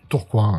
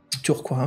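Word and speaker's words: Tourcoing: à côté de Lille si je me trompe pas Fred c'est ça tourcoin la prononciation tourcoin ouais tourcoin voilà alors après ses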